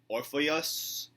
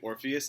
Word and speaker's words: Orpheus: It looks like Orpheus and Eurydice. That's not how you pronounce it. It's actually Orpheus and Eurydice.